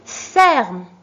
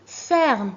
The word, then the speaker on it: ferme: Une ferme. Une ferme. Ici, la même chose. Je prononce E et parce qu'il est devant une consonne prononcée.